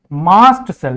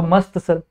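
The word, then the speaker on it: mast cell: लोग क्या बोलते हैं, मास्ट सेल, या फिर आप बोल दो मस्त सेल। मस्त चंगा भला पड़ा हुआ है, बट ये चंगा नहीं है। ठीक है, इसका प्रोनाउंसिएशन एक्चुअल में मास्ट सेल है, बट आप कर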